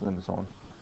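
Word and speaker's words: limaçon: Let's see, that's not a C, it's a whatever, I don't know what you call it in French. Something like that. But it's pronounced limicon.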